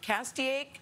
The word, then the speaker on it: Castaic: Castaic, is that right? That is correct. You pronounced it correctly.